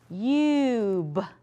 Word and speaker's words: cube: Silent E makes the U say U, so let's blend it with the U sound. Ready? C-u-b-e. What's my word?